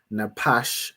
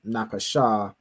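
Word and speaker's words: נפש: Like like you know to pronounce this as napash instead of napasha from practice from going through the vocabulary as I do each week, right?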